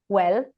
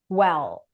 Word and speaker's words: well: Let's say you're used to pronouncing an L, a light L. So you say well, right, with a L sound, and you want to shift it to a dark L, which is produced more here, well.